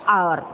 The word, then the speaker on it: hour: क्योंकि यहाँ पर एच साइलेंट है, यहाँ पर एच हमारा साइलेंट है, तो हम लोग क्या बोलते हैं? आर, आर बोलते हैं।